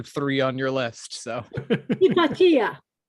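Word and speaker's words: Hypatia: Yes, we're um I I used to do it the way the Americans do and I had a Greek person in my audience who yelled at me and said, "Do not say it that way. You say it hippatia because she's Greek."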